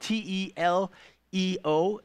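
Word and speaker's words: τελέω: This is the word, it's spelled T-E-L-E-O, and it's pronounced teleo.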